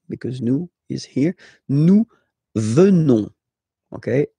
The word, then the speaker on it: venons: Nous venons. Okay? O, N, S, classical ending for nous. Okay? Final S not pronounced. So O, N, on, venons.